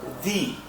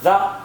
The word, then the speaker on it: the: The t h ethe or the you can pronounce it the or the but it depend upon the context where to call it the and where to call it the.